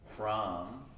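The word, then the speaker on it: Hram: We can chant the Bij or seed mantra, H-R-A-M, Ram.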